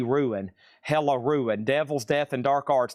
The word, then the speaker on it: Hella Ruin: That is spelled H-E-L-L, Hell E Ruin. Hella Ruin.